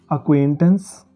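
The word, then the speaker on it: acquaintance: जिन शब्दों में सी क्यू आता है तो उनमें सी साइलेंट हो जाता है और क्यू की आवाज़ आती है दोस्तों। जैसे अक्वेंटेंस, एक्वियस और अक्विट।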